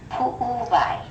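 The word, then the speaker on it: puʻuwai: But if the W is in the middle of the word, it's a V sound. So this is haleiwa and pu'uvai, and that means heart.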